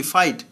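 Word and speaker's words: fight: জি silent থাকবে। এল এ ইউ জি এইচ লাফ, লাফ মানে হাসা। এল এ ইউ জি এইচ লাফ, লাফ মানে হাসা। এফ আই জি এইচ টি ফাইট, ফাইট মানে যুদ্ধ করা।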